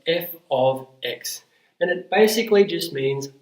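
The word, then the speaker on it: f(x): the right hand side this is pronounced f of X and it basically just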